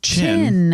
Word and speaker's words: Qin: tidying up here I looked up the name China in the atmology of it oh yeah uh as I figured I was pronouncing this wrong so his name we were we we were saying kin or something like that q i n or